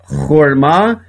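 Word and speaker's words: חׇכְמָה: O Shevá aqui ele é mudo, por isso que lê horma, e aqui ele é pronunciado rahemá.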